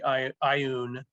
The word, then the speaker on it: Ioun: I think it's probably Ioun. That would be the best that I could come up with. Well, see, that's how Gary Gygax pronounced it. Interestingly, in the audio versions, the ones done fairly recently, I guess 2010, it's IOUN stones.